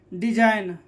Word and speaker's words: design: याद रखें, यदि जी एन के पहले आता है तो क्या होता है? जी साइलेंट होता है। जैसे यहाँ देखिए, डिजाइन, जी क्या है?